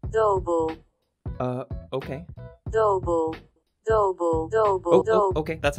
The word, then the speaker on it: Dubbel: Google Translate seems to give it a Dutch pronunciation, which is more like Dubbel.